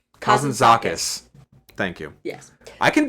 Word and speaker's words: Kazantzakis: Uh But Kazantzakis couldn't could never. Uh I've mispronounced that. Kazan- Kazantzakis.